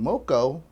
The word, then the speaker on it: Moco: they called it loco and then moko rhymes with loco so there you go